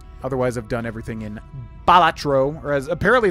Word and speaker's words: Balatro: Otherwise, I've done everything in Balatro, or as apparently it's pronounced Bolatro or something like Batro is not how you're supposed to pronounce it.